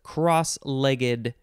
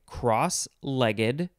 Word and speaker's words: cross-legged: more information next is cross-legged two words with a hyphen you can say cross legged cross legged cross legged or cross legged three syllables or two syllables it is an adverb